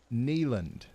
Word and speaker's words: Neyland: It's pronounced Neyland.